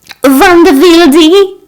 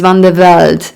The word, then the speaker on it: Van de Velde: Van de Wilde? She asked. Yeah, but my name is Van de Velde, not Van de Wilde.